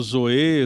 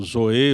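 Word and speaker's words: ζωή: usa a expressão, né, alguns pronunciam como Zoé, Zoé, enfim, né, é uma palavra grega para designar vida. Só que nós podemos dizer que essa expressão zoe ou zoé, ela tem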